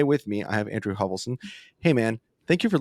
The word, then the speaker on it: Hovelson: for your listeners um everyone mispronounces a lot of times there's D's and as in dogs that holverson hovelsten and I'm like literally you can look at the spelling none of those letters are in there yeah